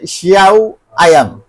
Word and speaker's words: Xiaomi: আর এখানে আছে শিয়াও আয়াম। আচ্ছা ভাই, আমি তো Xiaomi, হ্যাঁ এটা অনেকে উচ্চারণ করতে এটা মনে করে যে Xiaomi মনে হয়, এটা কিন্তু Xiaomi না, শিয়াও আয়াম টিভি বক্স।